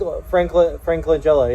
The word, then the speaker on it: Langella: And so, like, I got to see Frank, is it Langella? I always say his name wrong. Frank Langella, yeah, the Langella.